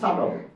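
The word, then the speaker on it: subtle: এর উচ্চারণ হবে না এস ইউ বি টি এল ই সাটল বি এর উচ্চারণ হবে না ডেট বি এর উচ্চারণ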